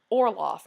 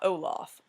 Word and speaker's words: Orloff: Orloff, not Olaf. Orloff. There's an R, which makes me think of Count Olaf, which is why I said it wrong.